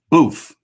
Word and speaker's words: Boof: about her former dj booth boof is how you pronounce his name he was a dj